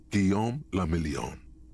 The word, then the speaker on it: Guillaume le Million: For Revachol, your city, that meant only one thing: Guillaume le Million. If it doesn't rhyme, you're not pronouncing it right.